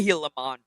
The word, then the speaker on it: Gilamon: so much attention on get the pronunciation right it's the heon no step on heon